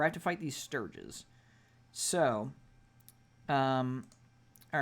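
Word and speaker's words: stirge: Clinging to the ceiling are 10 sturges. God damn it. That's what I need. Fucking mosquito bat nightmare monsters. By the way, those are pronounced Sturge.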